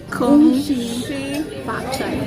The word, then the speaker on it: 恭喜发财: Kung Shi Fat Chai.